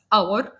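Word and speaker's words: hour: امثله اور اونر اونست بالرغم ان الثلاث كلمات بيبتدوا بحرف الاتش وهو حرف ساكن الى انه لانه سايلنت احنا نطقنا تاني حرف الاو فبالتالي بقت اور ساعه اونر شرف اونست شريف وبالتالي النطق نطقته حرف متحرك اذا فحطيت اداه التعريف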